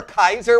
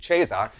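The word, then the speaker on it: Caesar: like some Roman Emperor Kaiser which is the Original Latin pronunciation by the way not the ecclesiastical which would be Cesar but nevertheless do you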